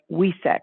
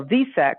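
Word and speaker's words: Vesak: have the buddha moon known as wesak visek some people spell it w-e-s-a-k other buddhists spell it v is in valentine e-s is in spirit a k is in kind so visak or wesak is the celebration of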